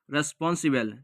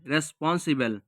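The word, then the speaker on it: responsible: একসাথে উচ্চারণ করলে হবে রেসপন্সিবেল, রেসপন্সিবেল।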